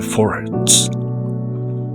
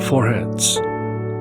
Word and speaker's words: forehead: We have sealed the servants of our God in their foreheads. 그들 이마 안에 foreheads 또는 foreheads라고도 발음하는데요.